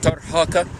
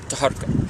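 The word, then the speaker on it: Taharqa: for thousands of years, saying him Tarhaka. That's most probably his name is pronounced right, but the Western, they called him Taharka. He might be corrupted, the name corrupted like many other of the ancient Egyptian names.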